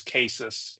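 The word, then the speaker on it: CASIS: and forgive me County we we call ourselves cases um typically when people see that they do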